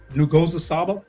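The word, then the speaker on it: Nguzo Saba: And I'm not saying even when I hear her pronounce it, I'm still struggling. Mm-hmm. But she says Ngozi. Ngozi Saba.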